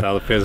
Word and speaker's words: Herdade do Peso: And here we're standing in the middle of the vineyards at if I try and pronounce it, at Herdade do Peso. Herdade do Peso, very well.